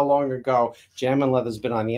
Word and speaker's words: Jamin: m instead of two now it's not jamming as in the proper spelling for jamming as j-a-m-m-i-n but the way we spell it is j-a-m-i-n get it right so